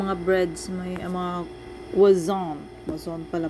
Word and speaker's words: croissant: Unang ilam, ang mga breads, may ang mga wazon. Wazon pala pag-pronounce.